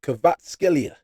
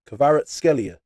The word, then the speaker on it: Kvaratskhelia: Yes, you play for PSG, but you're not comfortable in Listen, if Kvaratskhelia, that's how you say it, Kvaratskhelia, signs for Arsenal, game over.